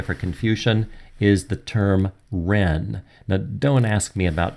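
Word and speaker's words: 仁: Gil system of transliteration it's spelled with a J I know that looks like Jen but it's pronounced as Ren as I mentioned it's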